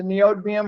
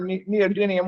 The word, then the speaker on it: neodymium: odds for that, is the neodymium or neodymium, whichever way you want to pronounce it, which we just don't have any choices on right now.